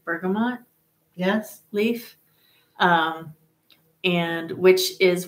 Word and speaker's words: bergamot: I had my first taste of, am I going to say it correctly, bergamot?